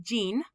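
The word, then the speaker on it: 人: Hito is sometimes pronounced jin.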